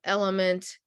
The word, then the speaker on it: LMNT: they love drip drop they love element lmnt is how it's spelled out it's very good uh